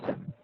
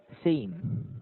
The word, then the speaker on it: same: Not Sam, same. Ah, same. Yes, And it's like you're saying same, like that.